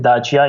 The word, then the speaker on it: Dacia: We had we pronounce it Dacia, it's Dacia car.